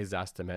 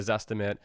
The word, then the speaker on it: Zestimate: Because the Zestimate is an estimate and it's often not precise. And that's the point, right? It's not a coincidence that the Zestimate rhymes with estimate.